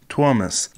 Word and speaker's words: Tuomas: Tuomas? Well, let's see how to pronounce. Tuomas. Tuomas.